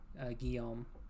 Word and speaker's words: Guillaume: Kind of like the Latin name, Guillaume.